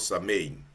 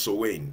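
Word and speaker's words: Samhain: was the fire festival called samain called pronounced soain yeah something like that observed at Harvest harest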